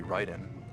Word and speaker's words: Raiden: It's actually Ryden. Uh-huh. Cuz you know, in Metal Gear from the very beginning there's voice acting, so they know it's Ryden. Mhm. But most people when they see Ryden written, they think it's Raiden.